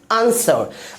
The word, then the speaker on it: answer: अगला example ANSWER, क्या पढ़ेंगे आंसर। अब हम लोग मूव कर रहे हैं अगले साइलेंट लेटर की तरफ, यानी लेटर GH साइलेंट।